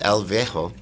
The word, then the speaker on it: El Viejo: One of the amazing films that is premiering here is El Viejo.